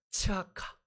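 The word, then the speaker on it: צעקה: 치아카. 예. 디귿이 빠졌어요. 그죠? 예. 발음이 비슷합니다. 근데 뜻은 정반대죠. 발음이 아주 비슷한데 정반대 이런 겁니다.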